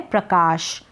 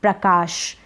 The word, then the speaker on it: प्रकाश: में SH श लिखेंगे, ए नहीं लगाएंगे क्योंकि लास्ट में हिंदी के नामों में अ का उच्चारण नहीं होता है। तो प्रकाश किसी किसी नाम में लिखा जाता है, वो मैं